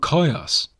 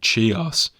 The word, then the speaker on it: Chios: forever and what about coyotes and actually maybe something i should note here i was pronouncing it chios in previous episodes i do